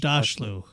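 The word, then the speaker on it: Aghdashloo: Agdashlu is how you say her name. Okay. Shorey Agdashlu.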